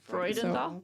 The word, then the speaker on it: Freudenthal: Because that's like Freud. Freudenthal.